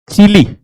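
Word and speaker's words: Chile: अपने देश का नाम तो सही लेगी। तो चिले कहती हैं वो उसे चिले है।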